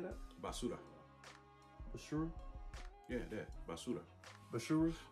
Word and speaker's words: basura: everybody was like, trash, basura, like, don't mess with them. Say it again. How you say that? Basura. Basura? Yeah, that. Basura. Basura? Or like my boy, Basura. You gotta roll your R's, dog.